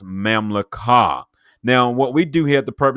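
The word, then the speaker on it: ממלכה: So when we look at the word kingdom in Hebrew, it is pronounced mamlakah.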